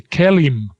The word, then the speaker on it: KELIM: The KELIM is how we pronounce that. KELIM, right.